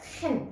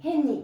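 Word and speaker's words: חן: 이 발음이 약간 목구멍 소리. 아랍어라든지 히브리어가 헨 이렇게 해야 돼. 그냥 헨 이러면 안 돼요. 헨 이래야 돼요. 뭐 가래 넣듯이.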